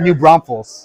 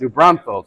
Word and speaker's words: New Braunfels: it wait how do you how do you pronounce it again New Braunfels New Braunfels I've been pronouncing it wrong I love it